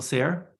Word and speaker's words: Sayre: Bill Sayre. I may be mispronouncing your last name, Bill.